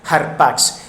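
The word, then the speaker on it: ἅρπαξ: Pero la palabra rapaz viene del término griego harpatx, termina así en X, se pronuncia como una X al final, ¿no? Foronéticamente hablando. Harpax, que significa.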